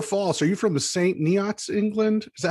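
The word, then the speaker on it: St Neots: Are you from the St. Neots, England? Is that how you say it? Yeah, St. Neots.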